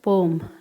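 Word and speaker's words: poem: अभी देखो, एक चीज़ और सीख लो, हम सारे लोग इसको पोएम बोलते हैं। Please don't pronunciate it एज अ पोएम, इट्स पोम नॉट पोएम, okay.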